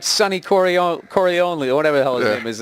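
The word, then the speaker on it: Corleone: out of him, you know, like Sunny Coroni or whatever the hell his name is there. How the hell you say his name? Corleó.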